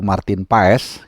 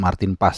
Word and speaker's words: Maarten Paes: tim nasional kita yaitu Martin paes atau bacanya kalau dalam bahasa Belanda tuh Martin pas tapi ya karena lidah lidah Indonesia kita bilangnya Martin Pa saja sudah resmi bisa